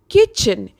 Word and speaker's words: kitchen: word kitchen that means the letter t is silent in the word kitchen you understand what i'm